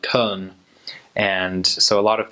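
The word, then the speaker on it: Köln: middle of Germany and in German it's actually called Cohn and so a lot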